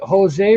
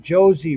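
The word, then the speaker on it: José: do this wrong but is it jose rosario or is it josie rosario no no it's jose you said it right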